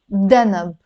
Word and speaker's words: danab: You see, I pronounced it d because it's Lebanese Arabic. D. Sorry, danab, not danab. Danab. Let me rewrite it. D-A-N-A-B. Danab. But in standard Arabic, it's written with a dhanab, dhanab, which is a tail. But in Lebanese, we pronounce it danab.